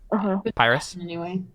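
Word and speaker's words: Paerus: sound you're going for then it's p-a-e-r-u-s p-a-e-r-u-s pyrus yeah yeah let's go with pyrus i'm down with that so pyrus the god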